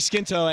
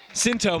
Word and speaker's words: Sinto: As the Princeton fans are giving Jake Skinto a slow clap. Sinto, my mistake, always pronounce that wrong, as he goes for the triple jump.